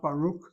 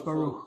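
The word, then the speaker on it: ברוך: A beged kefat letter following a vowel, a half vowel, any vowel, will never be plosive. It's not Baruch, it's Baruch.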